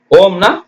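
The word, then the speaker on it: womb: யூ எம் பிளம் ஓம் ஓம்னா கருப்பை அம்மா வயித்துல இருந்து பிறந்தீங்களா கருப்பை ஓ இம் ஓம் டபள்யூ ஓ எம் பி எழுதணும் ஆனா உச்சரிக்க கூடாது டம் டி எம் பி டம்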